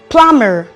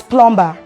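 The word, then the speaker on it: plumber: and the words are plummer the word is not pronounced as plumba it's as a dye syllabic word and the next word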